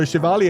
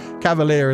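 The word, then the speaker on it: chevalier: So, Shivalia is probably the French word. Cavalere is like what it was adopted to in like English and other languages for pronunciation purposes, but Yeah.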